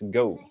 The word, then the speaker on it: Geaux: It's like, bro, let's go. Then you gotta say it's spelled like the NO way, like Go Saints, or the French way, or whatever it is.